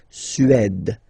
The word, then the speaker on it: Suède: Remember, accent grave, it's really open. Suède, Suède.